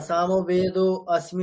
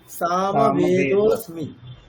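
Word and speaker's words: সামবেদোঽস্মি: যেটা হবে সেটাই উচ্চারণ এটা উচ্চারণ করলে কেমন হবে সামবেদসমি সামবেদসমি ঠিক আছে? তাহলে লুপ্ত আকারের কোন উচ্চারণ কখনোই হবে না।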